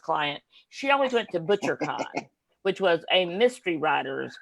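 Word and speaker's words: Bouchercon: Because I remember my mother-in-law, who was my first client, she always went to ButcherCon, which was a mystery writer's con. That sounds like a steak place or something. It's spelled BOUCHER.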